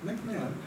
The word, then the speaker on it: McMahon: So, of course, there were two, and the book juxtaposes the McMahon, what's the best way? McMahon. That's what the British pronounce it.